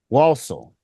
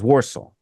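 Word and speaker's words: Walsall: it up okay and warsal is spelled w a l s a l l walel well but you hear Rob in the book when he reads it saying it sounds like he says waro and I'm guessing that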